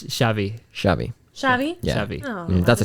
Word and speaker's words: Xavi: on it, but it's Xavi.